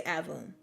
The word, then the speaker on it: Aveum: I gotta remember it down here Immortals of Adam so I asked me how to pronounce it yeah that's how they say in the trailer in the trailer they say album so okay all right so Immortals of album